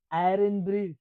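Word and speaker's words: Irn-Bru: pronounce it? Iron. Iron Brew.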